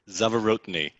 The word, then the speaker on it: Zavorotny: cara collier and zeverotini go ahead and say your last name because i know i butchered it no that was actually really good zavorotni okay great so you